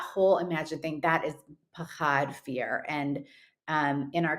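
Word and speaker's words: פחד: about two concepts um I'm hoping that I pronounce it right so it's pushard and also Europe yeah um yeah no one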